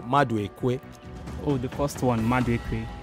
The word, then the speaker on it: Maduekwe: Oh, the first one, Maduekwe. Maduekwe.